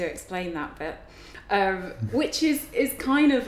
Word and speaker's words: Izycky: okay all right so i am uh um so what do i do um i'm